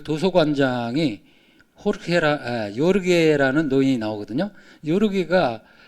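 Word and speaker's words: Jorge: 요르게가 이게 지금 호르헤, 그러니까 에스파냐어로 호르헤라고 읽거든요. 그러니까 지금 보르헤스를 그 모델로 삼은 거예요.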